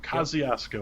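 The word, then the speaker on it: Kosciusko: say the last one yeah that would be kosciuszko kosciuszko kosciuszko all right i got it never heard of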